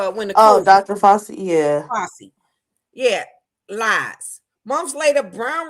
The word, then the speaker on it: Fauci: That's how you say his name, Fauci. Who is that? A judge? No, it was the one that came out with the when the Dr. Fauci, yeah. Fauci.